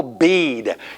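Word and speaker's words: Bede: and that's the venerable bead you don't pronounce that last e and he lived from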